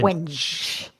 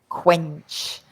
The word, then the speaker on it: quench: And really, it's pronounced as if you have a K and a W.